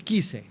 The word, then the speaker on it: Giese: Our next guest is, I always say it wrong, Chris Giese. Giese, you almost Giese. said it, right? Is it Italian or? It's German. German, okay, Yeah. Giese.